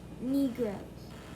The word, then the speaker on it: Negroes: That's a long E sound. And then the E is silent at the end. Negroes.